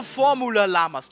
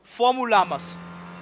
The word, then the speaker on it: Formulamas: For well over a season, I said their team name wrong. I mean the Llamas. Formulamas. No Formula Llamas. No. Formulamas. No la. Okay? Formulamas. We got it.